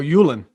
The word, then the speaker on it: Uihlein: Regular names, something I can pronounce. Uihlein. Oh, Yulin.